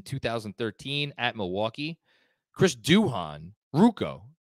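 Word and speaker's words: Ruocco: at Milwaukee Chris Duhon ruko Andrew's texting me that ruko is the pronunciation what did I say Ryan Rocco I screwed that up I'm sorry Ryan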